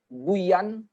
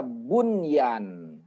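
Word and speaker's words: بنيان: nih ketemu dengan ya ndak boleh bacanya Buyan Buyan ndak boleh ya Hai tetap dia dibaca Bun Yan bunian karena memang dia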